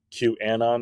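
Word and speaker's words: QAnon: notice Aaron had to say it correctly cue Anon instead of Q and I've come on is that correct yeah that's technically it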